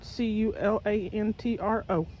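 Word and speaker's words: culantro: It's spelled c u l a n t r o.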